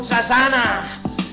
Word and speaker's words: Zazana: And I shagged her on holiday, this bird called Zazana, and it rhymes with Susanna.